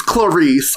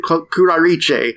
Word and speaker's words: Clarice: they do pronounce it kurich so I do think it's supposed to be an Italian name that's spelled the same way which is just really